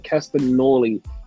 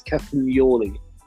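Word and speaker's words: Castagnoli: I've been saying Castanoli and it's Captain Yoli.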